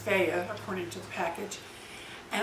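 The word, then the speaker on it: Fage: growth hormone in it I also like um FAA yogurt it's f a g but it's pronounced FAA according to the package and I love this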